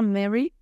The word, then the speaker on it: Murray: se llama a ver se llama Mary pero se escribe Murray y a mí me